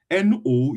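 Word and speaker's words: nous: But if you want to pronounce n o u s alone is pronounced no without the s.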